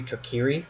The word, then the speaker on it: Kokiri: the Kokiri if retiree apparently it's supposed to be Kokiri but no to carry